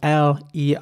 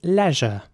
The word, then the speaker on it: leisure: will pronounce this Leisure so the e at the beginning is pronounced like an e sound Leisure not everyone in